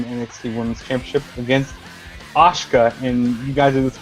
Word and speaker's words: Asuka: Justin, speaking of butchering her name, it's pronounced Asuka, not Ashka.